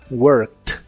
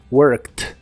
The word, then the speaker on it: worked: el pasado es worked la e d del final de esta palabra se pronuncian como t worked worked en el pasado puedes